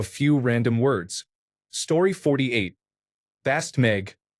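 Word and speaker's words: baszd meg: Bast meg, pronounced that's meg, means fuck you in Hungarian.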